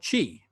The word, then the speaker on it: qi: The energy or life force that we talk about in acupuncture is called qi. The Americans will spell it CHEE, or life energy.